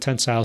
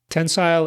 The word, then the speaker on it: tensile: Tensile is pronounced tensile by me, but I've also heard it pronounced tensil, kind of like how you might pronounce the word futile as feudal, depending on who you are and where you're from.